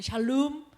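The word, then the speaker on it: שלום: 인도하면서 아이들과 함께 샬롬 하고 인사하자고 했어요 정확한 발음은 샬롬 이렇게 인사하자 했더니요이 친구들이 교회를 다니는 친구가 있겠으나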